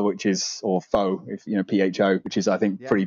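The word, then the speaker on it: phở: just just up there what's the actual proper pronunciation then it's fur is it yeah it's far but if you want to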